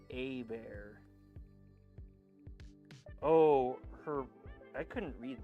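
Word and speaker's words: Hebert: Kyle Hobert's last name is pronounced a bear. Oh, her I couldn't read that. I thought it was Hobber. Hobar.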